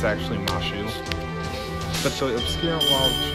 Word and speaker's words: Mash: servant's name says Mosh, but the name is pronounced, it's actually Mashu.